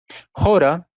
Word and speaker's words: Hora: Jora, tal como lo estoy pronunciando, es una palabra sánscrita muy equivalente a hora en español o hour en inglés.